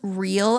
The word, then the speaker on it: Reale: Her new skincare line called Reale Actives. It's spelled Reale.